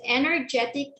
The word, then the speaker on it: energetic: is the correct answer because energetic is in the second syllable the stress is in